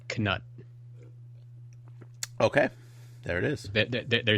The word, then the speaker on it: Knut: They all agree that it's Knut. Okay. There it is. They're saying it's pronounced KUHNUT. Knut. Okay. Knut. So the K is not silent as it would be in our dumb English language.